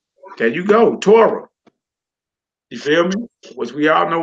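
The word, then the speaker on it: תורה: word is dead my sister how do you pronounce the last word right there Torah there you go Torah film was we all know with the Tories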